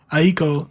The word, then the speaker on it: Aiko: Is it Aiko? Aiko.